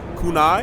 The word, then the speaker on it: Kunai: I'm here talking with Benjamin from TurtleBlaze about Kunai. Am I pronouncing it correctly? Yeah. Kunai?